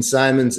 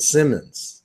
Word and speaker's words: Simons: which is so great it accentuates the difference between Simon's and Simmons yeah well I'm sure